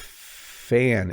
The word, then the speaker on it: fan: You can hear when I say van, there's like a vibrating sound. As I said, vibrating, you heard it as well. Whereas with fan, it's more of just the sound of air.